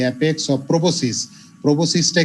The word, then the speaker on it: proboscis: এই এসটা অনেকে বাদ দিয়ে দেয়, PROBOSCIS, এসটা কিন্তু থাকবে, PROBOSCIS উচ্চারণ প্রোবোসিস, এস এর উচ্চারণ নাই কিন্তু লেখার সময় এসটা থাকবে।